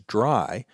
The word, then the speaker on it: DRY: is dry code now I'm always going to pronounce that as dry but it's actually three letters d r y which stands for don't